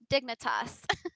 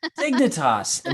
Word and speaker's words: Dignitas: I must correct you the team name is pronounced Dignitas Dignitas more like Kingdom Hearts like Veritas I should